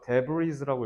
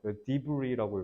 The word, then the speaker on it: debris: There is really a way for us to pick up smaller pieces of 자, 이거 debris라고 읽으면 안 된다. 이거 debris가 아니라 프랑스어예요. debris라고 읽어야 돼. s를 먹으셔야 돼.